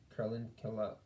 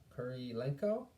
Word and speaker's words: Kurylenko: Martin McDonagh completely revived Olga Carlin killa I butchered her name Kurylenko you butchered her in